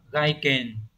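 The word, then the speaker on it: 外見: Câu cuối cùng, câu số 30, chữ Hán là chữ ngoại chữ kiến, từ này đọc là gaiken.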